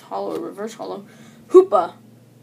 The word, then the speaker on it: Hoopa: Hoopa. Sounds rhymes with Koopa.